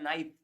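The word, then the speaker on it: knife: या फिर आप में से कई लोगों को पता होगा कि हम जो बोलते हैं नाइफ, लेकिन स्पेलिंग होता है KNIF, नाइफ।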